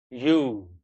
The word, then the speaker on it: ewe: But this word has a very, very, very weird pronunciation. It is you.